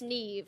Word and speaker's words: Niamh: probably asks you but it's spelled n i a MH but it's NE where are you from